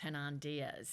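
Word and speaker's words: Hernan Diaz: last year trust by I think it's pronounced hernand Diaz yes and I have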